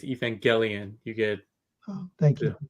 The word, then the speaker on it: Evangelion: you gotta be accurate it's a hard G is Evangelion you get oh thank